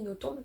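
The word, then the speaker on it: Nothomb: Il faut savoir que Amélie Notbon par on est censé prononcer le B.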